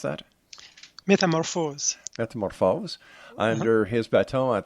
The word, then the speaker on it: Métamorphose: The world premiere performance of his orchestral composition, Métamorphose, is that how you pronounce that? Metamorphose.